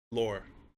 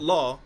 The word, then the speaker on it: lore: So it's not law. It's not like the rule of law.